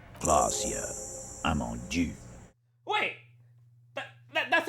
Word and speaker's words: Klaasje Amandou: (Titus) - Says it correctly 'Klaasje Amandou' "Wait, that- that's how you say her name?"